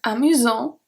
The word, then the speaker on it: amusant: Then we have amusant. Amusant, S has no power, we don't pronounce the T. Then amusante, because we have the E, we are pronouncing the T.